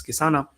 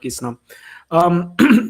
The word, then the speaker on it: Kisana: Kisana is a difficult name to pronounce. People get it wrong. So, like, just for the record, it's Kisana, not Kisna.